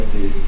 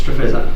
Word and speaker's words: Streatch: Correct pronunciation? Streatch. Yep. This interview is conducted at the Nyah Police Station on Thursday, the 30th of August 2018. Mr. Streatch, is that correct? It's Streatch.